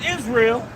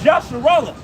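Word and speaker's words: ישראל: So, and really, by calling us Israel, that's a part of that. Because hey, that's not how you say it. It's Yasharallah. All right?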